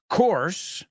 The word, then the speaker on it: course: I took a course on pronunciation, and they told me that the word course, English course, and coarse salt are pronounced the same, and that's because they are.